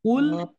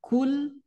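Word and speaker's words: قُلْ: ya perubahannya sangat Patar ketika KL Katakanlah tapi ketika kul Makanlah ini kan jauh sekali ya dari segi arti makanya termasuk kesalahan Jali kalau misalkan pengucapan KL malah kul Nah itu ya kemudian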